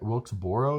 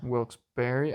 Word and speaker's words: Wilkes-Barre: just up here okay Wilkesboro isn't it Wilkes Barry I mean it's pronounced a few different ways from what I've been